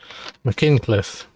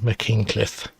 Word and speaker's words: Machynlleth: Now you have to pronounce, if I'm not pronouncing these very well, I do apologise, but I'm sure it's called Mckincliff. Two L's is a spitting sound or something similar.